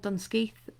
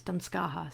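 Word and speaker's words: Dunscaith Castle: dunwegen or clan donald for armadillo there is dunskeith castle so sometimes called dunskeith that's how i would pronounce it um but also also known as damskaja so uh either will will serve um which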